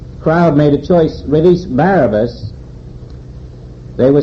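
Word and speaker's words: Barabbas: not you are releasing Barabas son of the devil is the human identity which is controlled totally by the world mind that is barabus and his correct pronunciation is bar abas son of the devil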